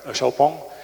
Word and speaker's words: Xpeng: Xpeng, oui. Xpeng, il prononce Xiaopeng, et avec une prise de participation de 5%.